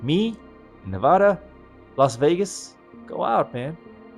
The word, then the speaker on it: Nevada: I know the locals here have a particular way how you say it. I think it's Nevada. That's how you're supposed to say it, Nevada. I think I got that right.